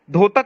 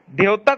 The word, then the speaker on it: द्योतक: द्योतक नहीं होता भाई, द्योतक होता है। तुम्हें जब वर्ण उच्चारण नहीं पता है बेसिक, तो तुम क्या ज्ञान देते हो?